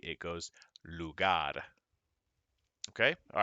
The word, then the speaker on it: lugar: it and number six notice the r is not it's not lugar it is like a little d it goes lugar okay all right now